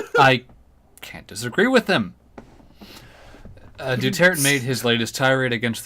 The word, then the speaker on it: Duterte: Oh, Duterte, that's how you pronounce it, okay.